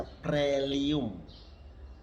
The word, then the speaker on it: proelium: Proelium, dibaca prelium.